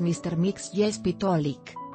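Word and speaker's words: Mr. Mxyzptlk: MR Mixi Spitplick, aunque puede parecer imposible de pronunciar, el nombre de este pequeño duendecillo es más fácil de lo que crees. La pronunciación adecuada es Mr. Mix Jespitolik.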